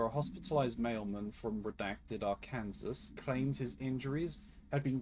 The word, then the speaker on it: Arkansas: Bureau's attention after a hospitalized mailman from redacted Arkansas claimed his injuries had been caused by a movie camera. Further investigation... Did you say Arkansas? You're not right. You're not wrong. I did. It's Arkansas, isn't it?